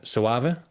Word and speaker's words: Soave: So thinking about and I want to see if I can pronounce it correctly the first time. Save.